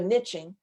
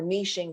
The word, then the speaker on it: niching: You can go niching or niching, depending on how you say it.